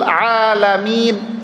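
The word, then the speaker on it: العالمين: alhamdu pakai ha rabbil alamin seharusnya begitu tapi dibaca sama diabilam Amin huruf Ain dirubah sama dia menjadi huruf Hamza Hamzah artinya jauh Pak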